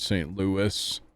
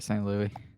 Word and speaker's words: St. Louis: It's not at all how you say it. It's St. Louis. All right, St. Louis.